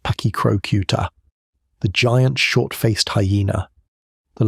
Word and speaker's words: Pachycrocuta: Pachycrocuta brevirostris, pronounced Pachycrocuta, the giant short-faced hyena.